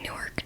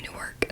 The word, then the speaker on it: Newark: we got off at Newark train station that's a Newark not Newark if you know the